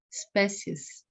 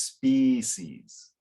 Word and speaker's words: species: the evolutionary sequence of spaces okay it's a little it's it's a open e in in English so it's species okay very good so